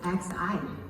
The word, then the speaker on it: Xi: But I want to ask people, the matter because in front of Omicron actually is XI. In China we call it Xi. The same pronunciation is as Chairman Xi Jinping.